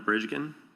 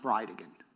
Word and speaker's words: Bridgen: It's Jared Gallen Bridgen and I'll represent to you that it's pronounced Bride again.